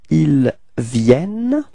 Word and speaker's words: viennent: And the final ENT is not pronounced, so it's il vienne.